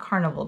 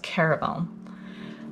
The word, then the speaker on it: Caraval: And it's not Carnival. There's no N. I think it's pronounced Caraval.